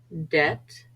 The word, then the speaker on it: debt: comb lamb Lim come sometimes after t as well debt doubt subtle C is always silent